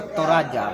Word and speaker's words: Toraja: Pierwotna nazwa tego terenu to „Toraja", nie „Toradzia" (tak się tu wymawia nazwę Toraja), a Toraja (wymowa całkowicie jak po polsku).